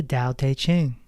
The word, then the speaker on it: Tao Te Ching: Book number 5, speaking of Lao Tzu, it's the Tao Te Ching. For those that are not familiar, it is spelled Taoteteching. In Chinese, T's are pronounced D.